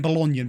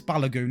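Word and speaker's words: Balogun: balagon there I real I've been saying bologan but I think it's balagon isn't it how you say it you got Ward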